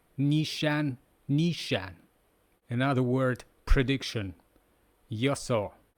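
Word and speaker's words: 予想: Another word, prediction, yoso. We can imagine prediction that someone is gonna have your saw.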